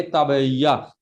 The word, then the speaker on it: ताबिया: तो हुम्माए तबैया, तबैया कहते हैं थकान का बुखार, ताबिया, ताबिया बोलते हैं इसका सही प्रोनाउंसिएशन क्या है, ताबिया, यानी कि थकान का बुखार।